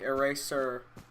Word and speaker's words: eraser: is a hard S, and razor is a Z sound. So it's like eraser.